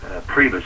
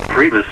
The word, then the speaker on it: Priebus: Priebus, I think his name is pronounced.